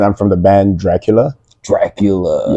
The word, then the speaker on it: DRQLA: Dracula. Yeah, and that's spelled DRQLA. We put a little hipster twist on it.